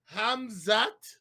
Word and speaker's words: Khamzat: the first things first gilbert burns against ha pronounce it again for before hamza so hamzat so you want to go first because